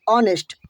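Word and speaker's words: honest: एच यानी consonant से शुरू है परंतु उनका उच्चारण भावेल यानी कि स्वर से आरंभ होता है जैसे ऑनेस्ट ऑनेस्ट पढ़ते हैं न रेबल ऑन रेबल पढ़ते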